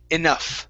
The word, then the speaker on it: enough: So first up, this word right here, the GH at the end. That's an F sound. So it's enough.